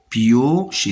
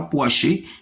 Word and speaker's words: piocher: Piocher, c'est pas poacher, mais piocher.